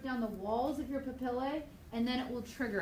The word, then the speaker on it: papillae: Okay, you got to say it like you're an Italian. papillae.